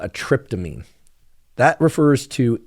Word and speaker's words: tryptamine: Psilocybin is what's called a tryptamine. That refers to its chemical composition, not to the so-called psychedelic trip. In fact, it's spelled differently. Tryptamine is T-R-Y-P, trip, T-R-I-P, of course.